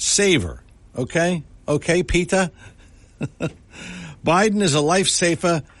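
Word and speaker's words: Petr: his name is pronounced Peta remember that Betty Davis movie where she said peta peta peta well that's it Peta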